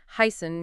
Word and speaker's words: heißen: It looks a bit like a capital B, but it represents a unique sound similar to a double S in English. You'll find it in words like heißen, meaning to be called süß for sweet, and weiß, meaning white.